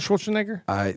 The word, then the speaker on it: Schwarzenegger: Did you ever meet Arnold Schwarzenegger? Not. Well, no. you're gonna meet him right now. Now you pronounce my name wrong.